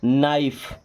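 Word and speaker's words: knife: अब एन आई एफ ई इसे निफे नहीं पढ़ते हैं। क्या पढ़ते हैं? नाइफ।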